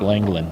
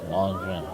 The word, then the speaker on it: Langevin: I heard him introduced tonight. Langevin.